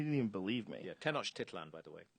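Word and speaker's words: Tenochtitlan: Tenosh Titlan by the way. How do you say it? Tenosh Titlan.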